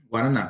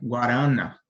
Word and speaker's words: guaraná: Então nesse caso aqui no caso de guaraná a sílaba tônica ela é a terceira sílaba Ok guaraná se a gente mudasse sílaba tônica dessa palavra guaraná digamos se nós colocássemos no no ra certamente Saria estranho né guarana n verdade veja Que